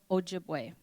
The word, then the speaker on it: Ojibwe: So this Chippewa is a mispronunciation of Ojibwe.